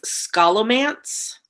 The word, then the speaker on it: Scholomance: first book in the i'm not sure how you say this i think it's scala mance how do you spell it it's a made-up word it's s-c-h-o-l-o-m-a-n-c-e scholomance i believe is how you would say it by naomi novik uh